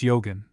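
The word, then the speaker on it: Eogan: FN number 15 pronounced Yogan, son of Dora.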